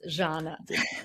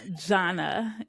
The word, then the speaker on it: Zhanna: It's Zhanna. Zhanna.